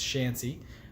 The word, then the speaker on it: Shancy: I thought it was Chancey, but it's Shancy.